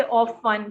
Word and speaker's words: often: Probably this guy has gone, literal on the pronunciation, because in often we don't pronounce, the T. T is silent.